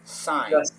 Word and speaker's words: sign: mean do I sign sign I sign up to use no do not do not pronounce the letter G just sign sign do I sign to